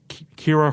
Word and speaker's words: Ciara: yeah, and like my I would like it to be noted that my name is technically the correct pronunciation. It's the Irish pronunciation.